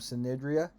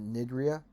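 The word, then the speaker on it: Cnidaria: Next, we're going to look at Phylum Synidria. Some people pronounce it Nidria.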